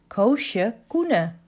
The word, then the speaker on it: Koosje Koene: If you are wondering how to pronounce that crazy name of me, listen very carefully. It's Koosje Koene.